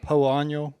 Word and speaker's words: Poa: Cody as a marketer, Jason as was it called Poano? no. Poana? Poana. How do you pronounce it? We just say POA because it is Poa.